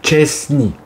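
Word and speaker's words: Szczęsny: le fameux monsieur chesni son nom correctement se prononce VO chensne non Chesny Chesny on va respirer ça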